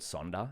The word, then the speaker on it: sonder: word for it called sonder it's spelt like wonder with an s so s-o-n-d-e-r so you